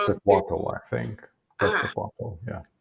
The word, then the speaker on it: Quetzalcoatl: Quetzalcoatl, I think. Ah, Quetzalcoatl, yeah. okay. Quetzalcoatl? Yeah. Quetzalcoatl.